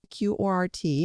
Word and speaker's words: QORT: So powering all this activity, you need the native coin, which is q-o-r- t. QORT thats pronounced like court, yeah.